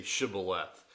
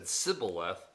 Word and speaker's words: shibboleth: they said all right say shibboleth and if he said sybileth because he could not pronounce the word correctly they seized them and